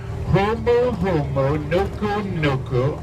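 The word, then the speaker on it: humuhumunukunuku: huu everybody the second word is nuu Ku pronounced twice Nuku Nuku who said nooki all right let's put that together hu hu Nuku Nuku all together a very good now you can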